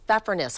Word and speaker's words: Pfeffernuss: I think, if I'm pronouncing it correctly, it's pfeffernuss, I think is what it is.